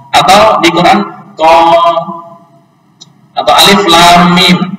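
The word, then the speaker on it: الم: Tapi ketika dibaca qaf atau di Quran qaf atau alif lam mim, jangan dibaca alam.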